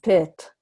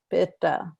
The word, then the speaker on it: Pitta: class, you know, where Hindi speakers will say Ayurveda, or they will say Vat and Pit, rather than Vata, Pitta, Ayurveda. Okay, so there's always that sound at the end.